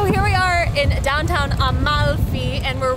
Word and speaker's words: Amalfi: made the mistake too i think it's more natural for us to say almafi in english it is actually amalfi and if you really hang on the l it'll come off more naturally on the tongue amalfi coast oh